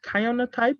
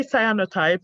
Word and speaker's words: cyanotype: technique called cyanotype and i heard that you pronounced it kaiona type i don't know the actual english pronunciation the word we want yeah i say cyanotype and it's it's um